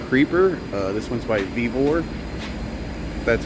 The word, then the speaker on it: Vevor: over this Topside Creeper uh this one's by vivor that's how you pronounce it there's all the specs right there